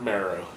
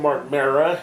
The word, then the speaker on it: Marrow: We had Todd Pettingill interviewing Wildman Mark Marrow. Pettingill calls him Mark Mara, which is kind of a weird thing that he mispronounced his real name.